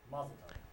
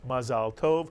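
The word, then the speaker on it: מזל טוב: And whether you say mazel tov, which is the Yiddishization again of the Hebrew mazal tov, or you say it in the Hebrew Sephardic pronunciation of mazal tov, in either case, you're expressing to someone, we're so proud of you. Congratulations. I hope you have a long and healthy life. Mazal tov or mazel tov, either one.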